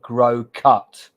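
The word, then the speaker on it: Groucutt: hearing the name wrong the name is Kelly grow cut g r o u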